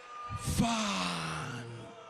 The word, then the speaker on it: Fandango: Fandango. Fandango. No, no, no, no, no, no, no, no. You need to feel it. Let the A's breathe. You gotta feel it. Fandango. Fandango.